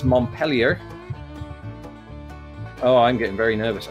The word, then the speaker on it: Montpelier: Vermont, it's a French one, but the locals don't pronounce it the French way necessarily. It is Montpelier.